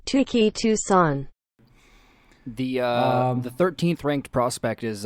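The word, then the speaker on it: Touki Toussaint: Correct pronunciation. Tuki Toussaint.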